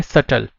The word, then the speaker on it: subtle: अब एक चीज जो इसकी वर्ड है जो मैंने अभी प्रोनाउंस किया, उसके राइट स्पेलिंग्स क्या हैं? SUBTLE, बट इसकी प्रोनाउंसिएशन क्या है? सटल.